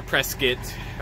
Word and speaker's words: Prescott: you guys Oh Prescott Arkansas that's right our press kit people really how they pronounce things but then smooth sailing say miss